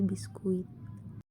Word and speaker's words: biskuit: bahasa Belanda yakni biscuit, di mana bunyi C dalam bahasa Belanda berubah menjadi bunyi K dalam bahasa Indonesia, sehingga yang tadinya diucapkan biscuit dilafalkan sebagai biskuit.